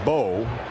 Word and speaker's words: Mbo: And now the concern is for Marcus Mbo. Marcus Bow. The M is silent, and we're silent here and hoping the young man's okay.